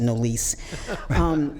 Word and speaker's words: Nolise: I'm named after my great grandmother, and she does pronounce it Nollis Jean. I got a little uppity, and I pronounce it Nolise.